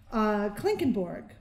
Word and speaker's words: Klinkenborg: Klinkenborg, which is with an O and not a U, like the Borg.